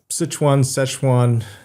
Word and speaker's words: Sichuan: I was calling it something else, but we'll just, Sichuan. But I like I learned things, and I really like learning how to pronounce things.